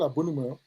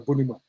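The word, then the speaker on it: Abonnema: My town is called Abonima. It was named wrongly called. We call ourselves Inye Money. They were mispronouncing the town next to us, Obonima, and they say we are Bonima.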